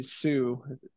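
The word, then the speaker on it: Hsu: great in that and Stephanie Sue that's how you pronounce it everything everywhere all at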